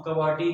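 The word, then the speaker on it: QWERTY: और इस कीबोर्ड का जो हम कवाटी कीबोर्ड का नाम देते हैं। तो ये ऊपर लिखा भी हुआ है KWOERTY, ये वाला इसकी स्पेलिंग में लिखे हुए हैं कवाटी।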